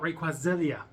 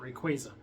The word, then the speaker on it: Rayquaza: Until I watched the Destiny Deoxys movie and they called it Rayquaza. And I was like, oh, that's how you say it.